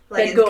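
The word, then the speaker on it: Van Gogh: Van Go I think is how it's Van Go is how it's actually pronounced.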